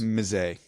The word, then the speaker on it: Mize: Casey Mize or Mies, I'm not sure how to pronounce his name. It's Mize. Yeah, I'm sure it is.